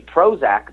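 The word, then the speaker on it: Prohoezak: the thing so pro his name is actually Prozac but it's spelled PR o h OE za k and then he says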